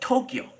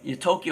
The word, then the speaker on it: Tokyo: Inside Tokyo, okay? And we say Tokyo has two syllables, by the way. It's not Tokyo, it's Tokyo.